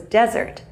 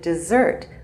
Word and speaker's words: desert: An important word in the speech was desert, the area of land without water. The only problem was that he pronounced it dessert, what we eat after dinner.